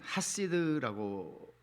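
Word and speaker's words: חסיד: 히브리 말로 이 경건하다 하는 말이 시편에만 한 20-30번 나오는데 이 말은 하시드라고 발음을 해요.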